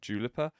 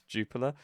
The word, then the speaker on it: Jupiler: moment is, uh, the Juper, I think is how you say it. Jup I've always called it Jipper, and it's not. It's Juper Pro League, the Belgian League started.